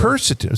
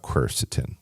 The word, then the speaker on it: quercetin: word I stole it about 10 years ago cerstin so let's talk about cerstin cerstin it's spelled qu r c t i n right